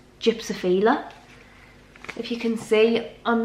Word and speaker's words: gypsophila: people call it this, I don't even think it's gypsophilia, I think it's gypsophila.